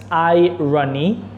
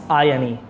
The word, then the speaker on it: irony: The word's pronounced irony, not irony.